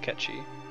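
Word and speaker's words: Cait Sith: __ ] name is ketchy which is another weird gaelic thing that's hard to pronounce actually came up this morning at ranch it's called c-a-i-t-s-i-t-h it's pronounced catchy temp is incognito it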